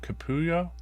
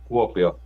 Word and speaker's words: Kuopio: How do you spell that? Say that last name, Capullo. Kuopio.